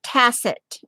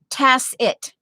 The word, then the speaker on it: tacit: um i think it's it's pronounced tacit tacit yeah tas it with an emphasis on the s well of course it's spelled with a c but in the parentheses it's like tess tess it okay and in the